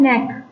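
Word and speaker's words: knack: इसका है नेक। क्या बोलेंगे? नेक। इसमें क्या है? केस साइलेंट है तो नेक या आपकी कोई एबिलिटी किसी काम को करने की आपकी क्या हो जाती है?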